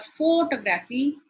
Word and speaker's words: photography: If I say photography or photography, the pronunciation changes. So it is photography.